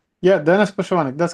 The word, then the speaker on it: Poshyvanyk: And Dennis, um I apologize for the pronunciation for your last name. Dennis Puschmann. Yeah, Dennis Puschmann.